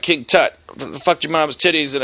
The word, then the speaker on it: Tut: Tut was an Egyptian, Tut rhymes with butt, okay, all right, got it.